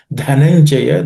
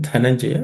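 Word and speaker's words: धनंजय: Dhananjaya, the dha in that word Dhananjaya is aspirated.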